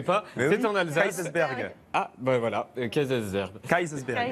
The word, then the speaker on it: Kaysersberg: Voilà, je ne le prononcerai pas. C'est en Alsace. Kaysersberg.